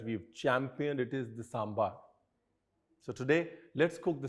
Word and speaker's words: sambar: A lot of Indians, we pronounce it as sambar. It is not sambar, it's sambar. Traditionally, down south, you always call it sambar.